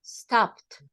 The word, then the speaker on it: stopped: With what letter? T. With T. Yeah, but it's stopped.